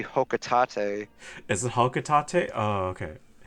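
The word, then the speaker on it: Hocotate: to say though like fun fact official pronunciation is actually hotate is it hotate oh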